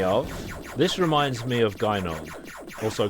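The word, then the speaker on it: Gynoug: This reminds me of Gynog, also called Jinog. If you're Japanese, you pronounce it Jinog, but anyone who speaks English looks at it and they say Gynog.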